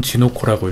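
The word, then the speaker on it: 地の粉: 이건 진오코라고 읽고 이건 토노코라고 읽습니다. 네, 일본어 맞습니다.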